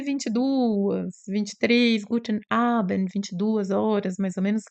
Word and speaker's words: Abend: bem curtinho, não é Abend, não tem esse D que a gente tenta fazer assim, né, faz em português, né, como se tivesse um I no final, então é bem curtinho, assim, Guten Abend, ok?